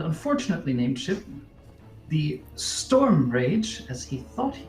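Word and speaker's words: Radg: It's pronounced Rage. Even if you spell it R-A-D-G.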